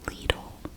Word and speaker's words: Lidl: a little magazine that ladle puts out the dish in the usa this is pronounced as lidl you can see in the